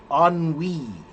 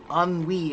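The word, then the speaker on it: ennui: There are some words that are like like for example there's a word uh oni. Anwi is another French word and it's spelled e n ui.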